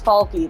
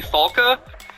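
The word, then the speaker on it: Falke: I thought his name was Falky. That's great. Falky? Yeah, I guess, so she is German. Maybe it would be pronounced actually Falka.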